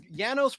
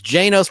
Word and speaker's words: Janos: And for years I thought it was Janos proaka. It's not. It's Janos. I learned that from I've Got a Secret where they interview him and they call him Yanos. I guess the J is silent. Yanos.